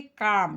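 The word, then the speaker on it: calm: काम सी एल एम। इसमें आपका एल साइलेंट है। क्या है? एल साइलेंट है। एल को साइलेंट कर देना और काम पढ़ना।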